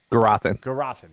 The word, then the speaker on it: Gurathin: Gurathin, thank you.